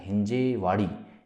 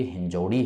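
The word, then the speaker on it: हिंजवडी: देखिए शाहिद हुसैन जी, पहले तो मैं एक चीज़ ये कहूँगा कि ये जो आपने लिखा है हिंजेवाड़ी, ये हिंजेवाड़ी नहीं है, ये हिंजौड़ी है।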